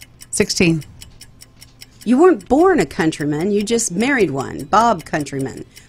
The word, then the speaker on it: Countryman: Is it countryman or countrymen? It's countryman. Countryman.